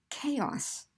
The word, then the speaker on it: chaos: CH could be k, as in chaos, or CH can be an sh sound, as in machine, or it could have no sound, as in yacht.